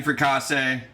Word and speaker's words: fricassee: All right, chicken fricassee. I said it right. You guys are saying it wrong.